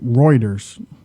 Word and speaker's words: Reuters: few seconds, but something just came out over Reuters, I think. Reuters.